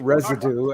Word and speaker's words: Reseda: I am in Reseda. We also pronounce it residue, actually.